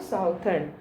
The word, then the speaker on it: southern: It's not southern, it's southern.